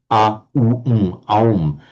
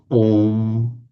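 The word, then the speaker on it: ओम्: Now, possibly, they have actually, in the pronunciation, applied sandhi to the a and the u, because the a and the u automatically, by sandhi, become o. So it's pronounced om. Have you anything to say about that, Marco? That the om results from the sandhi of the a and the u, aum, om.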